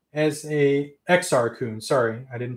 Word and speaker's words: Exar Kun: with podracer for an anniversary of episode 1 Zara kun as a Exar Kun sorry I didn't pronounce that career blue snaggletooth I mean you